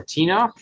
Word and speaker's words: Tenoch: correct us um but it's ten W or tenoch oh you nailed it perfect um I had